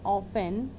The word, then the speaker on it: often: Student, truth is the most often OFTEN. Most of us says that like often. It's not often, it's often. In this word, the T letter is silent.